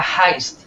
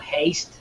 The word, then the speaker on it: heist: Like a heist. Like a heist. Okay, not haste. Yeah. How you read it. Yeah. Heist is how you pronounce it.